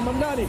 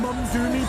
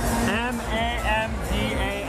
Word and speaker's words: Mamdani: When Elon Musk called him Mum-Doomy today, he tweeted Mum-Doomy.